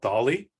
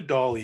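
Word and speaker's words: DALL-E: my favorites it's called Dolly I assume it's uh pronounced like Salvador Dali the Spanish artist and when you go to Dolly you can ask it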